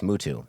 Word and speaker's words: Mootoo: want to hear it you still can't pronounce my last name that's not true it's mootoo see there you go